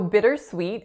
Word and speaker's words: bittersweet: So bittersweet has 3 syllables. The first vowel is a lax I sound.